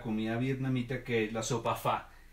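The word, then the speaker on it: phở: vietnamita que la sopa fa o se escribe ph of pop' se pronunciaría un ojo pero de ser pronunciar fa es una sopa bastante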